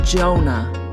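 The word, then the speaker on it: יונה: And we see the word for dove in Hebrew is pronounced Jonah.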